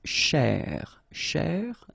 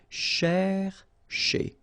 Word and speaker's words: chercher: So this first part here, C-H-E-R, you will pronounce it quite open, so it's cher, cher, okay? And then here, just because you've got this ER at the end, okay? If you remember, the rule goes like ER at the end will be pronounced E, okay? So you get chez, all right? So chercher, chercher, okay?